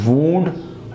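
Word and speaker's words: wound: इसका मतलब क्या होता है, इसके दोनों की प्रोनाउंसिएशन भी चेंज है। वूंड ज़ख़म या ज़ख़म करना, और वाउंड क्या है, घुमाना, घुमाया।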